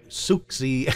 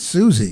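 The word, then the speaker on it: Siouxsie: then there was one by suxy and the panchees i think it's susie yeah the banshees actually the ex is silent known as susie sue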